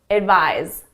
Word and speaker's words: advise: The S is at my lips, it's unvoiced. The Z is in my throat, my vocal cords are engaged, it's voiced. Advice, advise. Advice, advise. So the pronunciation is very different.